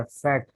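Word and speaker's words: FET: एफ ई T short form है इसका तो फैट ही प्रोनाउंस किया जाता है जो कि जे एफ ई टी होना चाहिए या एफ ई टी होना चाहिए लेकिन फैट भी कहलाता है एंड फील्ड इफेक्ट ट्रांसफर उसका प्रॉपर नेम है।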